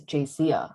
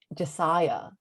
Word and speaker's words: Jacia: It's Jacia. I do not understand why. But the one person who mispronounced my name, and it's probably the most important person, is Dr. Morgan? Brown. Oh shit. No, Dr. Brown. He says Josiah.